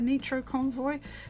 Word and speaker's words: Nitro Convoy: because no because uh the japanese don't pronounce eyes like we do they pronounce them as ease so nitro convoy is